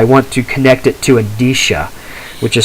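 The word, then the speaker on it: Endicia: told him i want to connect it to adisha which is spelled e n d i c i a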